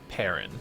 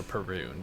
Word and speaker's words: Parun: This week, we are talking about Niv-Mizzet Parun, or Parun, depending on how people pronounce it.